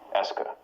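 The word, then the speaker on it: est-ce que: Here, to just analyze it as being a single word that marks questions that's pronounced est que.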